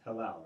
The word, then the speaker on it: Hillel: And it's pronounced Hillel, right?